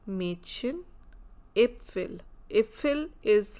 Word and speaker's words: Mädchen: So if it is not the umlaut, then we'll pronounce it as Marchen, because A is A. But here we have umlaut, so that's why we are saying Mädchen, Äpfel.